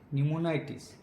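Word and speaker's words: pneumonitis: ठीक है, इसका बाद है न्यूमोनाइटिस। पी से स्टार्ट होता है, लेकिन जब हम लोग प्रोनाउंस करेंगे तो एन से स्टार्ट होगा, न्यूमोनोटाइटिस।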